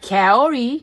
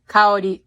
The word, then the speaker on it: Kaori: It's not Kaori. It's not like a carol. It's ka and drop the R again. Kaori.